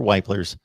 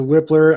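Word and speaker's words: Wypler: come to a result here is the pronunciation the correct pronunciation of luke whitler or weipler's last name personally personally i'm going back to whipler i know i said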